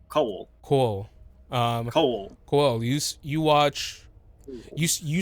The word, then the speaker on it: Coel: it's like coal, but with like a little bit of a second syllable in there. So coal.